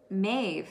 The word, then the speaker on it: Maeve: depressive state so about ma maeve sorry is how you say it a celtic goddess celebrates